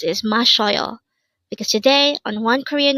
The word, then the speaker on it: 마셔요: It's mashyeoyo. Again, mashyeoyo. This pronounces a three-syllable word. The first syllable is ma, second syllable is sho, and third syllable is yo.